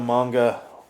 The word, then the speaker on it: manga: I considered reading the manga to keep, and that is the proper pronunciation, by the way.